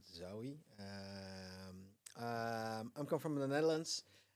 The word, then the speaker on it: Zaoui: So it's pronounced not, but Zaoui.